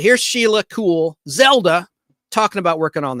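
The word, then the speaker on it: Kuehl: the actress's name is Sheila cool spelled with a K KU HL and she played Zelda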